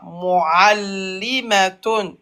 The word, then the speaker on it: معلمة: مؤلمة L'aïn, tu l'as pas bien prononcé. مؤلمة Voilà. Muallimatun.